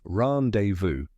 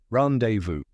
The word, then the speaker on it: rendezvous: the correct pronunciation is randevu yep that silent Zed might surprise you let's break it down